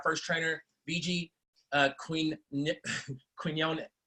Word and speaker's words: Quinones: welcome on our first trainer BG Queen Nick Quinn own quinones there we go all right let's make sure pronounce it right are you all with us